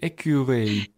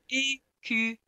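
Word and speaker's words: écureuil: is a really hard word for French people to pronounce when they're speaking English. Awful. Yeah. Squirrel. How do you say Ecureuil? Ecureuil. Ecureuil.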